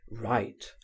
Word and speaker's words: write: widely different in signification, are pronounced exactly in the same manner. Write w i g ht. Write w wr i t e.